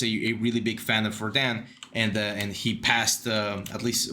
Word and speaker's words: Rodin: I think it's pronounced Rodin, but it's written Rodin, R-O-D-I-N.